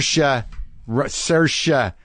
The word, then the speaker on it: Saoirse: with Saoirse Ronan it's come on yes sir she Russia Ronan and I learned how to say her